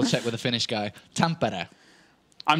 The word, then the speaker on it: Tampere: Yeah, you say Tampere. Tampere. Yeah. I said this at the beginning. Yeah, but I forgot. All right, okay. And I wanted to double check with the Finnish guy. Tampere.